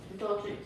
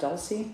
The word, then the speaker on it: Dulce: Is it pronounced Dulcie? Am I saying it right? I think it's Dolce. Dolce? Oh, wait, CE? Dolce de leche. Oh, okay, CE, not SE, right?